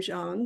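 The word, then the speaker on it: Chang: um biography of all Arnold Jang he pronounces his name Jang was born in New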